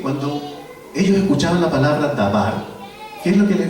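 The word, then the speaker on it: דבר: Se pronuncia dabar.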